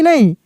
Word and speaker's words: knee: तो के N double E लिखा है, तो के तो साइलेंट हो गया। हम लोग पढ़ेंगे किसको? एन को पढ़ेंगे, यानी इसको पढ़ दिए नी।